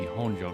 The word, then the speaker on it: Honjo: I guess not pronunciation would would be honjo normally Mojo is what the